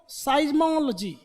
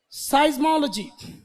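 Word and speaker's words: seismology: अब इसको पहले इसका प्रोनाउंसिएशन लिखो, साइजो, साइज्मो, साइज बोलते हैं, साइज बोलते हैं, साइज्मो, साइज्मोलॉजी, साइज्मोलॉजी, सिज्मो नहीं, साइज्मो बोलते हैं, साइज्मोलॉजी।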